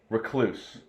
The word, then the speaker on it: recluse: And your brother mentioned something about a brown recluse. That's how you say it, yeah. A brown recluse, not a recluse.